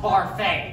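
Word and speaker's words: Barfée: William Barfay. It's pronounced Barfay.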